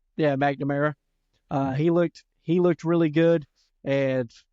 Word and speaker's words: McNamara: McNamara. Yeah, McNamara.